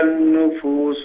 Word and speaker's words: النُّفُوسُ: وَإِذَا النُّفُوسُ زُوِّجَتْ. We don't read the lam. We don't pronounce the lam of an-nufus because this is called lam shamsiyya.